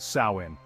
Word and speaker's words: Samhain: Our spooky celebration finds its origins in an ancient Celtic festival known as Samhain, pronounced Samhain.